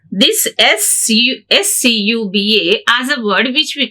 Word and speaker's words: scuba: We pronounce this SCUBA as a word which we call acronym. It's abbreviation only, but we pronounce as a word, so it has become acronym.